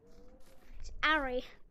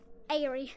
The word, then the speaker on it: Ari: the do I pronounce my name how much that Ari but like most people most people can't even say it so they just say Airy I like like my